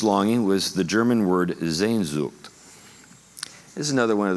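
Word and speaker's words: Sehnsucht: name for this longing was the german word zayn zugt this is another one of those things spelling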